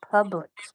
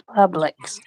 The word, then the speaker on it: Publix: up here and say Publix. He's saying it wrong. Are you sure I'm saying it wrong? Yeah, you were saying it definitely wrong. It's Publix.